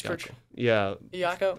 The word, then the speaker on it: Iacocca: He's Iacocca.